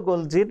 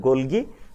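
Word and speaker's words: Golgi: বলতো কিন্তু পরবর্তীতে ক্যামিলো গোলজির নাম অনুযায়ী এই অঙ্গাণুটার নাম হইছে গোলজি বডি বা গোলগি গোলজি অ্যাপারেটাস অনেক ক্ষেত্রে আমরা গোলগি বডি বা গোলগি অ্যাপারেটাস উচ্চারণ করতে শুনি ওকে এবার আবিষ্কার হয়েছে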